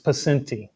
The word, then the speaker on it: Poscente: We have uh Paci. Yeah. Thanks for coming. Good to be with you, Rob. Yeah. And I pronounced your name right.